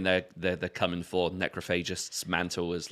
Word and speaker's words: Necrophagist: i don't know like is it necrophagist or necrophagist all right so i've i've went between numerous pronunciations over the years i've heard more people say necrophages than anything else so that's what i'm sticking with it's like it's you say necropolis you don't say necropolis yeah necrophogest sounds quite